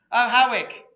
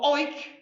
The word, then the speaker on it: Howick: If you're an aristocrat like Bill, you would pronounce it as Howick, but the villagers invariably use Howick, or Oik, or Owick, or Howick. So in other words, however you want to pronounce this place, you got it right.